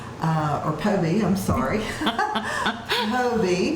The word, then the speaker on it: Phobee: But I will tell you, if you will call Phobee, or Phobee, I'm sorry. Phobee. The H is silent.